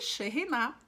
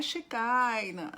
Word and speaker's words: Shekinah: E Sheriná é Sheriná, não é Espírito Santo, não é Shekinah, não é Shekinah, é Sheriná. E eu quero ler algo para vocês que está aqui na Torá.